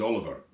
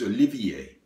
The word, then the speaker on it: Olivier: moved in he said my name is Oliver now said when you're French you know not all of her is it he says oh no it's Olivier why do people do that